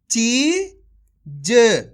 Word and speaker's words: चीज: चीज क्लियर कर दूं जब भी अपन शब्द पढ़ेंगे तो लास्ट वाले अक्षर का उच्चारण अपन इसी प्रकार से करेंगे यानी कि आधा करेंगे एक बार फिर से